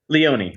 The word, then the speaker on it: Leone: you know kind of damien is is it pronounced leon or leone leone leone okay um because i know everything that